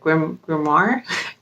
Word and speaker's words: grimoire: How do you say it? Grimoire? That's how you say that.